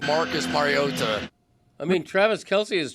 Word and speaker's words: Mariota: Marcus Marota. That guy's wrong. That's all I'm going to say from now on. Mariota, I can't shake Andy Reid tickling tonsils.